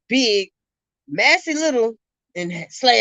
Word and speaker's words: Massey: butchered Shaylin, you butchered Massey. Come on now, Massey. See the S is in there, right? Macy. Was his last name Harris? Stop it. No, Massey.